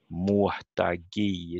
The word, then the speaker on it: muhtagi: It comes on the third, and the second syllable is not stressed, and the third is a little bit more stressed again, muhtagi, even though the last syllable is not so stressed.